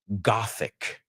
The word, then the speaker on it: Gothic: last is the word gothic which in English you it has an H in there and we pronounce that H Gothic a Gothic Cathedral and